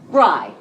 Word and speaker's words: Rye: name, I decided to take the syllable that was always there, but that people just didn't recognize. Rye. But spelled like the word, only 3 letters, so that I'm never